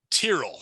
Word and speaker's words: Tyrrell: Tyrrell. Thank you. I can't pronounce his damn name.